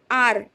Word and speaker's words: hour: next one and um and our HS silent over here our yes an inspector inspector and honest honest so all these birds